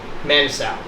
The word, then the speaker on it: Manasoiu: Manasoiu. Dan Manasoiu.